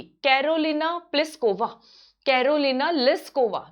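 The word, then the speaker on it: Plíšková: इन्होंने जेक रिपब्लिक की Karolina प्लिस्कोवा, Carolina लिस्कोवा, लिस्कोवा बोलते हैं हम, तो प्लिस्कोवा बोलेंगे क्योंकि हम इंडियन है, राजस्थानी है, पी आएगा, पर इसमें पी क्या है? साइलेंट है, ठीक है, इंग्लिश में।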